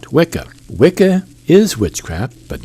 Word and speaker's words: Wicca: I don't think you can say that wickah pronounced witcha is the real name of witchcraft.